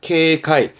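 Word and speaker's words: 軽快: 발음은 케이하크. 쾌자입니다. 경쾌한, 케이카이.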